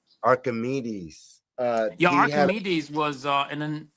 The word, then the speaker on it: Archimedes: Archie Medis of Greek. Archimedes. Archimedes.